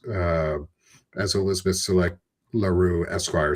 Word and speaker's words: Elizabeth LaRue: It's uh as Elizabeth LaRue Esquire says for us, hopefully I said your name right and I'm sorry if I butchered it.